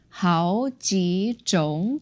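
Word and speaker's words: 好几种: So we modified that 种 to second tone, the word for types. 好几种酒.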